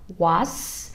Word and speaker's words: What's: Cái câu What's your name thì chúng ta sẽ đặt cái âm cuối là chúng ta đặt hai cái răng lại với nhau và chúng ta đẩy hơi ra.